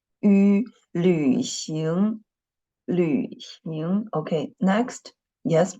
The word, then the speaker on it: 旅行: 旅行旅行旅行 yes, but you know the first syllable, the final of the first syllable is ü, not u, okay? Ü, I just used v to represent the letter ü, okay? 旅行 okay, next.